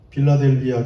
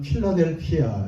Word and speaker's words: 필라델피아: 빌라델비아 교회, 정확히는 그냥 필라델피아 이렇게 발음하면 됩니다.